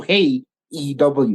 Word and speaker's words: Hey EW: So yeah, hey, first of all, guys, my pick goes out to Hey EW. That's how he says it. That's how it's pronounced.